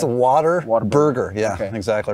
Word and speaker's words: Whataburger: It's Whataburger. Yeah, okay. Exactly right. Well, it is spelled like that.